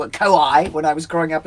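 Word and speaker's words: kōwhai: Now we call them kowai, a kowai tree, because WHs are pronounced like Fs in New Zealand. So we used to call it kowai when I was growing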